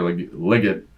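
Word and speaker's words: Legette: yep they they're running that throwback to Xavier liot as how you say his name apparently Bram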